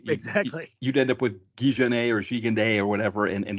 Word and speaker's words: Gigandet: So I discovered his name is pronounced. It's Cam Gigandet. That's how, but we can call him Gigandet.